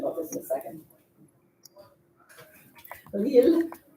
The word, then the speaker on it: Lille: Numéro 8, c'est la ville de Lille. L-I-L-L-E. C'est la ville de Lille. It rhymes even.